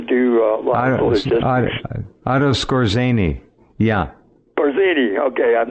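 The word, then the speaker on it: Skorzeny: He helped to do a lot of Otto Scorzeni. Yeah, Scorzini. Okay, I'm not pronouncing right. That's right. Scorzini.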